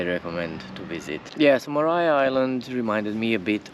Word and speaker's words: Maria: Tasmania don't miss out Mariah Island do not pronounce it Maria it's Mariah like Mariah kry uh